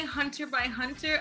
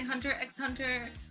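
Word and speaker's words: Hunter × Hunter: say it wrong but I like to say hunter by Hunter other people say hunter EX hunter or Hunter Hunter I I like to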